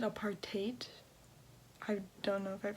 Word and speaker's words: apartheid: I looked it up and it said apartheid.